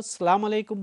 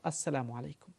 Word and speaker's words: আসসালামু আলাইকুম: কাজেই কেউ সালামু আলাইকুম বললে এটার অর্থ মৃত্যু হোক নয়। তবে এই উচ্চারণটা শুদ্ধ নয়। শুদ্ধ উচ্চারণ হলো আসসালামু আলাইকুম।